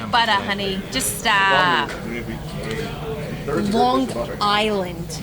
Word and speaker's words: Long Island: Long Island. You gotta pronounce every word. Long Island. What makes you pronounce that G?